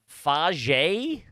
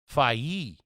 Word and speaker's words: FAGE: That's got to be a soft G. Them Europeans like a soft G. They love a soft. They love a soft G. Uh, I have one too that's going to blow your brains out. I would say faj. Nope. You ready? Fi. Well, yes it is.